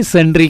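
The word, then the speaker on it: sundry: तो मैंने बोला भाई ये सुंदरी नहीं, सन्ड्री creditors and सन्ड्री debtors है।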